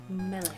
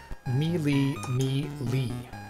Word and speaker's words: melee: weapon but melee combat that's how we pronounce it melee I work with someone that played RPGs and D andd their entire life grew up in the US no accents said they pronounced me me Le I've always wondered about that I've heard it both ways melee or Mele weapon